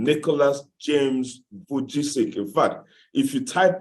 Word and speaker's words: Vujicic: I have a hard time pronouncing his name. Pastor Vizishik, somebody help me out, please. Pastor Nicholas Vujicic, yeah. Thank you, precious. Nicholas Vujicic, yeah. I think it's not that difficult. Vujicic.